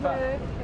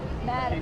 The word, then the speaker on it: Van der Merwe: Van der Merwe. No, not move. Move back. Merwe, actually. Your friend will tell you how to say it.